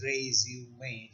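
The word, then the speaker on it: résumé: E's in resuming and that is why it is pronounced as race humane a French word and that accent marks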